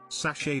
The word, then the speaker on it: sachet: too long didn't read sachet does not rhyme with hatchet no matter what anyone says edit thank you for